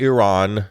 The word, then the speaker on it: Iran: let's pronounce it correctly Iran like the ear on the side of your head and Ron as in ron jeremy iran let's pronounce it